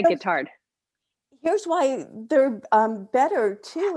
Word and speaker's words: Guittard: Oh, and I used Guittard. Is that how you pronounce the chocolate? It is. Yeah, Guittard.